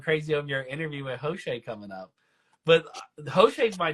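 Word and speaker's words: José: And you say you pronounce it Jose.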